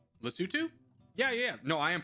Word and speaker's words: Lesotho: If this is about pronunciation, then Corgi's pronouncing it right. Lesotho?